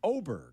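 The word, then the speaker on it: Åberg: like adverb well but he's got that little circle above the a so I think in Swedish that means it's pronounced oberg right could be I think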